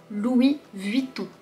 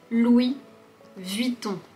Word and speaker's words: Louis Vuitton: Premièrement, commençons par deux marques qui contiennent le son on.